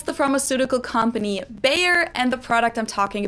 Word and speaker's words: Bayer: was the english pronunciation but the correct german pronunciation would actually be baia baya yeah like bayern baya baya bayan baya and